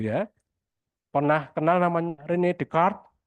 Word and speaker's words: Descartes: pernah kenal namanya Rene decart Rene Descartes itu ya bacanya Rene decart itu pencetus pragmatisme awalnya